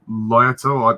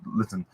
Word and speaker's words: Lytton: I mean, her character, Lady Lyoto, I don't know how you say her name, but yeah, she's very good, and she's Lady Lytton. Lady Lytton, thank you. Yes, Lytton.